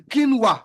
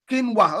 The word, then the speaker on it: quinoa: Okay, someone just helped me says it is called kina. Okay, quinoa. Okay, that's that that what I was trying to pronounce. Um, quinoa.